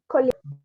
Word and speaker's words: colleague: colleague, Colleague, yes, ka. The plosive sound came and the two L's, doubling of consonants, it should be taken as one, and you pronounce the word as colleague, right?